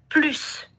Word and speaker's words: plus: Par exemple, plus loin, plus ancien, plus des, par exemple. Okay. Classez dans les tableaux les expressions soulignées. Si on a plus loin, ici vous avez plus, se prononce comme plus avec la S.